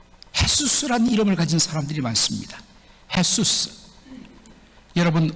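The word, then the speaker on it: Jesús: 헤수스. 여러분, 우리는 제이로 쓰지만 이 스페니쉬는 그것을 히읗 발음으로 그렇게 발음하죠. 헤수스.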